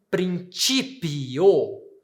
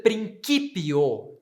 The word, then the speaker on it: principio: Então, notaram que quando eu digo, quando eu tenho a vogal, ou melhor, a consoante C, eu pronuncio na pronúncia eclesiástica como ti, eu digo in principio. E quando eu tenho a pronúncia reconstituída, eu vou dizer principio. Então, a mudança é de ti para ki na pronúncia reconstituída.